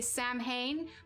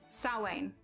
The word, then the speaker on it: Samhain: at it and you'd think it would be samhain but yeah it's actually pronounced like salwain yes candy is good too i love it